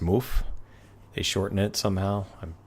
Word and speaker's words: VanMoof: Van Moof, I believe it's pronounced Moof.